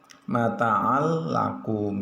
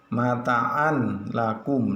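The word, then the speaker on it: مَتَاعًا لَكُمْ: yang berikutnya seperti contoh mata'allakum tidak boleh dibaca mataan lakum itu salah, yang betul adalah yang betul adalah mataallakum, malallubadha, hudallilmuttaqin, rizqollakum nah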